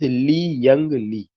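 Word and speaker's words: Li-Young Lee: Indonesia, and the name of this poet is Lee Young Lee.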